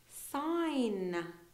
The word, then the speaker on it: sign: G sound at all sign no G sound so sign like a stop sign